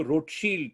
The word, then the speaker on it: Rothschild: But those days एक family हुआ करती थी, आज भी है, कॉल्ड द रॉथस्चाइल्ड्स, या कुछ लोग कहते हैं कि उसको रोथशील्ड प्रोनाउंस करना चाहिए, जर्मन नाम है.